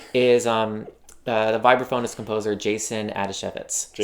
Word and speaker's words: Adasiewicz: Right, so today, the gush subject is the vibraphonist composer Jason Adasiewicz. Adasiewicz. Rhymes with Manischewitz.